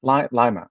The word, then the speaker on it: Lima: Lima, Ohio is pronounced Lima.